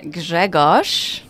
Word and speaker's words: Grzegorz: so incredibly excited to have this conversation with greos Greg perfect pronunciation thank you so much J Asha very